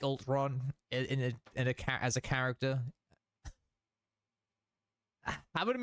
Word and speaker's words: Ultron: I don't know, you guys take the piss of me saying Ultron like that.